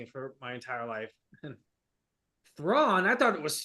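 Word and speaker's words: Thrawn: really does like I'm not guessing or like mispronouncing it for my entire life thraw I thought it was thran you um so hopic is excellent so do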